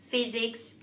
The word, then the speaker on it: physics: patient impatient parts importance you only need to be careful with words such as physics physician physiology phobia phenomenon these words are held as f but you're not going